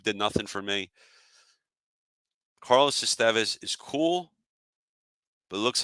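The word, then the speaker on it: Estévez: I think for what we paid to get Estevez. Sorry, I'm saying it wrong. Like it's Charlie Sheen or Emilio Estevez, but Estevez.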